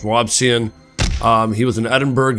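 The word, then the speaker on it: Robison: spelled right here I I want to pronounce it Robinson but it's not it's robsan um he was an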